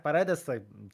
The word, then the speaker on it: Paredes: Isaac Paredes. Trudna wymowa, jednak to S, nie Z.